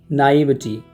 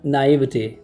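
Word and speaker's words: naïveté: भोला भाला होने की जो क्वालिटी है उसको बोलेंगे हम नाइविटी। या तो इसको पढ़ते हैं नाइविटी या नाइविटे, थोड़ा फ्रेंच इसका उच्चारण आ जाएगा एंड में, तो इसको हम बोलेंगे नाइविटे, नाइविटे या नाइविटी।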